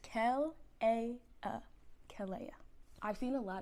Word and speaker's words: Kells: So, if you can't pronounce my name is pronounced Kells.